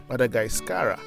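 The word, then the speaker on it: Madagasikara: history and a Corruption of meanings as visitors mispronounce or misspelled the names Madagascar for example by the locals is called madagascarra however its name was given by Marco Polo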